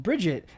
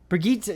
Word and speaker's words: Brigitte: they added a character called Bridget, a support tank. Brigitte, yes, thank you. Is that how you pronounce it?